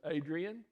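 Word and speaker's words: Adrienne: yeah her name is adrian it's a-d-r-i-e-n-n-e they pronounce it adrian and the middle name kind of unusual here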